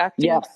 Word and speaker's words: Acti: And uh we'll get Dave to bring his Acti Honda Acti.